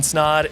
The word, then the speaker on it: Snod: My name is Snod. It rhymes with the odd.